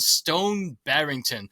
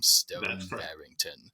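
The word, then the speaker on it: Stone Barrington: But in this story, we find Stone Barington, which is how I pronounce his name, Stone Barington, caught in a lethal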